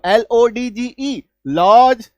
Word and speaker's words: lodge: लेकिन नहीं भाई साहब, इसका उच्चारण ज होता है। तो LODGE लॉज, FRIDGE fridge, HDGE हेज, WDGE वेज, PLDGE प्लेज, DODGE डॉज।